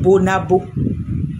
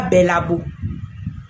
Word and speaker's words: Bonabo: E c'est Bonabo. C'est Bonabo. C'est pas Babo. Quand tu veux mentir, il faut bien prononcer au moins le nom.